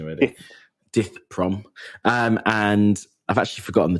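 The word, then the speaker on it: Dith Pran: So The Killing Fields is the story of death I've fucked up pronunciation already. Dith Prom.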